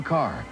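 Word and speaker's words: Kerr: actress Louis B Mayer declared Deborah Carr it rhymes with star Deborah Carr became a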